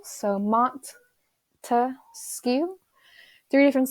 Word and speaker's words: Montesquieu: P wanted you to break it down to three different syllables so Mont to skew three different syllables meaning